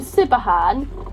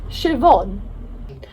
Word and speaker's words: Siobhan: there I found out the name sipper Han is pronounced Siobhan obviously I can't even